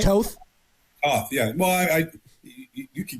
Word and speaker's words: Toth: It looks like he's going to play guard that the Niners brought in, Brett Toth. He's an Eagle guy. Did I pronounce his name right? Toth?